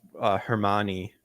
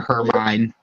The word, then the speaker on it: Hermione: I know mine like was Hermione. I know for a fact when I was young, I did not pronounce it like that at all. So I would have never guessed either by looking yeah, at it. I would have called her Hermine. I would have been like, Hermine.